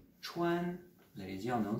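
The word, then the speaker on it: 川: a déjà entendu de sa prononciation puisqu'il se prononce shwan là les dix ans dans ça me direz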